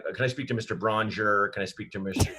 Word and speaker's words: Braunger: Just like Stronger. That's how you say it.